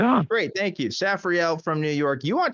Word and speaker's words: Saphri'ell: I'm getting it wrong is it safriel from New York is that correct correct you got it correct yeah you got it right on great thank you safriel from New York you